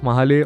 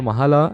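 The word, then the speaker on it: Mahle: the filter is coming from the house of mahale or Mahala as you like to hear the pronunciation but just avoid calling it mahalakshmi like my mechanic does you can see even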